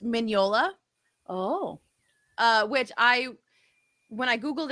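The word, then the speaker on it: Mignola: And he has a tweet that says, "Hey guys, it's MIN-YO-LA.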